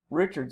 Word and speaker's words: Richards: The second question asks you to look at a very specific use of character Richards, or if you go with the French pronunciation, Richard.